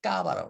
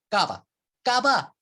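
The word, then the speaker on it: Cava: 이걸 뭐라고 그러냐면 까바라고 그래요. 까바. 야, 까바. 이 까바는 지하 저장고 케이브의 그 영어식 그 발음이죠. 그 스페인 발음이죠. 말씀드린 대로 샴페인처럼 병 속에서 병마다 하나하나씩 병마다 거기 안에서 2차 발효를 시켜요.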